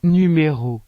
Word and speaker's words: numéro: Las letras A y O se pronuncian de la misma manera en francés que en español, pero la letra U se pronuncia U, como en la palabra numéro, que significa número.